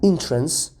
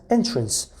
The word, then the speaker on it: entrance: The pronunciation inter and entrance, okay, are both incorrect. So inter is wrong and entrance is also wrong. So the correct pronunciation is enter and entrance. So pay close attention to the pronunciation of this word.